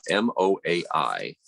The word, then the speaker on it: moai: MOAI. And it's coincidentally enough, just like the moai of the Easter Island statues, but it doesn't mean the same thing at all.